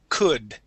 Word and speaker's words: could: word could all right instead of saying an o sound and saying could the word is C could try that please could